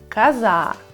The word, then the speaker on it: коза: Посмотрите, коза, ударение падает на букву А.